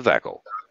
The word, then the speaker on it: Vekel: It rhymes with shekel. It's a Vekel.